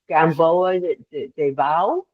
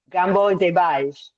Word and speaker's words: Gamboa de Baixo: And would somebody please correct my pronunciation of the town? Gamboa de Bao, is that correct? De Baixo. Yes. De Baixo. Gamboa de Baixo.